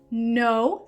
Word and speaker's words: know: Entonces necesitamos la K y la W, aunque no suenan, para diferenciar entre estas tres palabras.